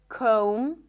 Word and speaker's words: comb: When there is MB, especially at the end of words, the B is not pronounced. So in words like limb, climb, no B, bomb, no B, crumb, plumber, comb, there is no B whatsoever.